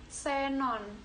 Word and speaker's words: xenon: awalan Tengah dan akhir huruf x pada posisi awal kata diucapkan es jadi contohnya Xenon tulisannya seperti ini gede